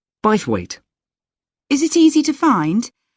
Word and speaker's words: Bythwaite: do you spell that b y t h w a i t e bite weight is it easy to